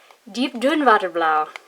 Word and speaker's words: Diep-Duinwaterblauw: Diep-Duinwaterblauw. And I just pronounced that like it was German because that's the closest I can do.